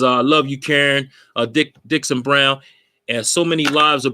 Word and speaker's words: Dickson-Brown: For those who are doing wrong, and I was doing wrong by pronouncing her name wrong. So she got on me. You hear me? So again, Dickson-Brown.